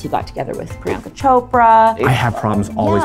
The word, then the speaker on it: Chopra: got together with Priyanka Chopra. I have problems always pronouncing her name. Priyanka Chopra. Chopra. There's no R. Chopra. There's an R.